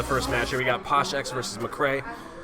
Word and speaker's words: PoshXX: Here we got PoshXX versus McCray. The X is silent. X is always silent.